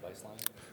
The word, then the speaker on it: Beistline: Can you talk about your hire at Beistline as is that how you pronounce it, Beistline?